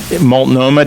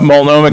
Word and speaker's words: Multnomah: And then you've got Multnomah, did I get that right? Right, you said it right. Multnomah County, which is where